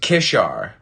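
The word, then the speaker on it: keššar: hiday term hand arm kassar pronounced kishar the final relic the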